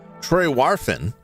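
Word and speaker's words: Trewarthen: Robert Demarian of the Cornish harbour town of Schwarthen, pronounced Trewarfen. Trewarfen.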